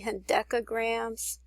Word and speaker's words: hendecagram: It's actually hendecagrams, so I'm sorry about that.